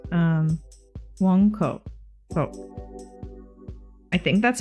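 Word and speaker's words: Mong Kok: So, it's actually got a W, like a W sound instead of M.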